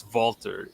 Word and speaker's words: Walter: yeah yeah it's it's it's it's german it's vaulter yeah it's w but it's pronounced with a b idiots